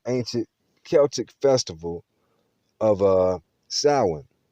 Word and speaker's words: Samhain: celtic festival of uh samhain it's spelled s-a-m-h-a-i-n but it's pronounced as if it was spelled s-o-w samhain and all praises